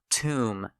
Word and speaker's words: tomb: Silent B words. Comb. Tomb. Debt. Doubt.